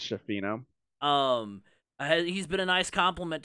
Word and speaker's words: Schifino: Freshman Jalen Hood Schifino has been or Schifino or Scafino. I'm gonna get roasted either way, probably, by how I'm pronouncing that. I'm pretty sure it's Schifino.